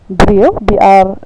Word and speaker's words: brio: Brio, it's usually pronounced as B-R-E-A-W in Khasi, and the meaning is man, marad, animal, kio, pot, die, tree, and so on.